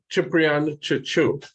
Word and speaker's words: Ciprian Cicu: This is Ciprian Cicu, as it's pronounced in Romanian.